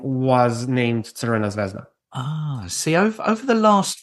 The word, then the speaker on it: Crvena: How do you pronounce the real name? The real name is actually Crvena Zvezda. Crvena Zvezda.